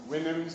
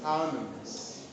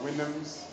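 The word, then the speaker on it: Houyhnhnms: Winhams is the primary pronunciation of the word. Some also call it Hounams. Alright? But Winhams is the primary pronunciation.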